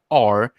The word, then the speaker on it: Schwager: I don't know how to pronounce that last name, but it's Schwogger, and I have seen the facts.